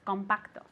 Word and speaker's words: compact: do we say this compacto very good compact okay compact okay with the accent at the beginning compact one more time